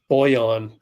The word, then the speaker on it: Bojan: Oh, it's Bojan. My fault. Bojan. Boyan, basically. Totally pronouncing that wrong.